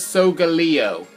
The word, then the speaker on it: Solgaleo: But really, you pronounce him as Solgaleo.